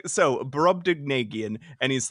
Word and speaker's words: Brobdingnagian: And then he says it's ding, or you can say dig. That is also acceptable pronunciation.